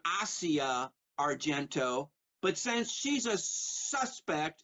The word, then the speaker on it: Asia Argento: And by the way, there's a Mothers of Darkness trilogy which stars Asia Argento, and she pronounces her name Asia Argento, but since she's a suspect in the murder of Anthony Bourdain, I'm going to call her Asia Argento.